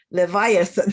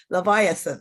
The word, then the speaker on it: Leviathan: famous book one of his famous books is leviathan i'm sorry i'm sorry leviathan that is a correct pronunciation okay this is a it's a monster